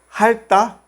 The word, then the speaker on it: 핥다: Solamente pronunciamos la primera consonante 르. 핥다.